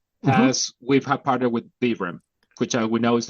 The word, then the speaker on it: Vibram: I'm told it's Vibram because it Vibram, comes from yes.